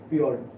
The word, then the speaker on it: fjord: J আছে কিন্তু pronunciation টা কেনেকৈ হয়, fjord.